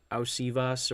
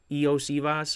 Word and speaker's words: Iosivas: They scored another touchdown, and that was to Osivas, or however you pronounce it. Eosivas, I think that's how you pronounce it. Iosivas.